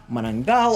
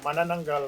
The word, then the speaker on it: manananggal: comments have been about how we've mispronounced some of the names like manangal or manangal but you know we